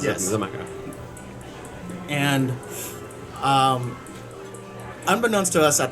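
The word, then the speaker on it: Xaymaca: Zamaka.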